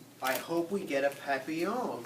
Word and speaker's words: papillon: hope we get a papillon like our neighbor's dog you say it like a happy young and in french that